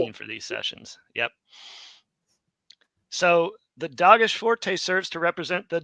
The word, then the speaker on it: Dagesh: Some people will call it a Dagesh. Just depends on where you put the accent. In Hebrew, with the modern pronunciation, is Dagesh.